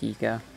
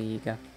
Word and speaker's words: Yiga: Yep, it's another Yagia, or Yiga, however it's pronounced. It's Yiga. It's totally Yiga.